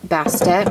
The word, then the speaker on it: Bastet: And then I have this really awesome statue of Bast, or Bastet, or how they pronounce in Egypt actually is Ba.